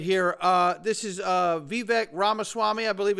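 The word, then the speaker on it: Vivek Ramaswamy: powerful moment right here uh this is uh vivec ramaswami I believe it's how you say his name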